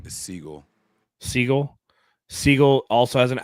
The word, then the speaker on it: Sigle: Is it Sigle? Saigel their fifth rounder. is Seagull.